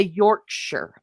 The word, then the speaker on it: Yorkshire: So, and I think the reason why I say Yorkshshire and all Americans say Yorkshshire is again it's phonetics because we were taught that's a large that is a big I because it has an E at the end.